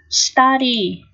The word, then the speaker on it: study: Từ thứ nhất, study. Study. Đây là chữ U này được phát âm là âm Á đúng không nào? Ký hiệu là dấu mũ.